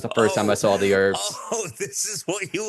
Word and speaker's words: The Urbz: I thought you were saying the herbs, because the way Americans say herbs is without the H. Yeah. I was like, what are you talking about? The Sure. Okay, the Urbz, the URBZ.